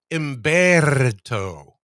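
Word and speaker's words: Humberto: So, we have emberto. Now, when you say this, when you pronounce this hurricane, you have to roll the Rs just like I did.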